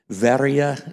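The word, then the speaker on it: Βέροια: That's an Anglicanized version, and Pastor Mark and I, he actually pronounced it probably more biblically yesterday. Veria is something like that.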